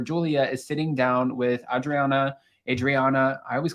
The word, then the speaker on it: Adriana: And we see in this episode where Julia is sitting down with Adriana. I always call her Adriana. It's Adriana.